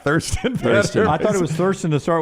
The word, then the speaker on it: Thurston: Is it Thurston or pronounced Tristan? It's spelled Thriston, but it's pronounced Tristan. But I like Thurston.